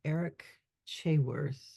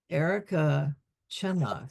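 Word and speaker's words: Erica Chenoweth: One of the things that he talked about was a lady named Eric Chayworth. That's not quite right. What's her name? Erica Chenoth, Chenoth.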